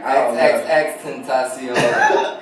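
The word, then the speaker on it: XXXTentacion: XXX Tentacion.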